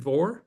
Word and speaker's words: Vohr: Is it Vohr? Is that the way? Yes, sir. How about that? All right. I always love pronouncing my guests' names correctly.